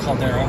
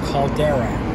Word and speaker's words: caldera: into to the cad how do you say that Caldera cadal say it again Caldera Caldera if you travel North